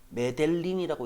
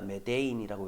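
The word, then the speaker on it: Medellín: Some decades ago, 수십 년 전에 메델린이라고 읽지 않을게요. 스페인어니까 메데인이라고 읽을게요.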